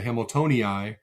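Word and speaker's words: hamiltonii: not get started on the double I. So we talked about Hamiltoni, which really has a double I at the end. So you say Hamiltoni, but really [clears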